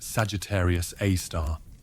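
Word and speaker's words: Sagittarius A*: black hole known as Sagittarius A asterisk pronounced Sagittarius A star.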